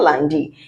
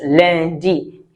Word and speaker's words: lundi: It's not landi. It is lundi cuz U N is un.